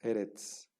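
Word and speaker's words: אֶרֶץ: por ejemplo aquí ars erets erets es una palabra segol Ada que tiene dos zoles y que tiene acento en la primera sílaba herts no que significa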